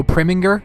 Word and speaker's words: Preminger: The film Anatomy of a Murder, directed by Otto Preminger, I believe is how you pronounce his last name, is a great film